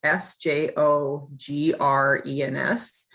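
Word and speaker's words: Sjögren's: name english speakers but it's pronounced sjogren's like tv show grins g-r-i-n-s so that's how i remember it so i was diagnosed with sjogren's and vasculitis at the age of 28.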